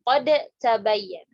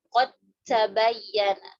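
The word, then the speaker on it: قد تبين: Jadi bukan qad tabayyan. Jadi kita hilangkan sifat qalqalahnya, kita hilangkan. Kita langsung masukkan huruf ta. Qad tabayyana. Qad tabayyana. Bisa ya, bisa ditiru cara bacanya.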